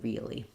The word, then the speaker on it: real: When we say the word real, we do almost have two syllables, real, because we have vowel to vowel linking between that front E and that sound before that L, real.